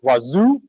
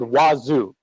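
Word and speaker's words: Wazuh: and um talk about detection engineering specifically with Wazoo. It is pronounced wazoo. Um especially when you're South American, that's really cool. I I talked to people and they said wazu and man, I can't argue with that.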